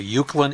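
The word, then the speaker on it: Uwchlan: If you're not from around Philadelphia, Uclan is UW C L. I promise you if you don't live around here, you wouldn't pronounce it right the first time.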